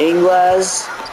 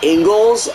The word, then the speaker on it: Ingles: no good Kessler to English and there's a bucket it's Ingles oh my god I've been saying it wrong I just heard that